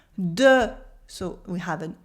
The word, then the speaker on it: des: Here the S is silent in des because it makes an E sound.